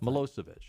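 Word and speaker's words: Milošević: Milosevic, is that how you pronounce his name? Milosevic, the guy that was over Milosevic, I think. Milosevic, yeah, the guy that was over in Serbia and Yugoslavia.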